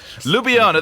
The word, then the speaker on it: Ljubljana: for the closest thing i could okay ljubljana lubiana there you go thank you very much you know me in a pronunciation that's not my favorite thing uh finally